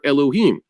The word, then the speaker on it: Elohim: sometimes just Elim or Elohim. And that's, I could say that, you pronounce the hey, because it's not referring to the God himself. It's referring to his emissaries that he created.